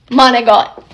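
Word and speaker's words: manicotti: to rule number two the ends of words are never how they're spelled that's not how you say it for example this pasta manotti uh uhuh monot where does it come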